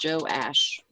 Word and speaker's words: Joash: different I like it joash that's how it's pronounced is joash joash Jewish anyway I